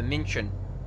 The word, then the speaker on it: München: I think a U with an umlaut is more like an I, so München would be my guess.